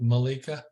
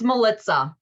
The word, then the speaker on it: Melissa: could hear me or not uh and it's Melissa right not Malika it's Melissa rhymes with it okay okay um I you're talking